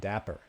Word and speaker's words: Dapr: So the first thing that I thought of when I started looking at Dapper was there are a few other projects called Dapper that are spelled like this or spelled slightly differently.